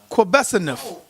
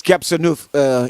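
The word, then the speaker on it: Qebehsenuef: Quebesanuf. Oh, you're not saying it right. Okay. Quebesanuf. How you Okay. pronounce it? Yeah. Let me just correct that. That's Gebsanuf and them.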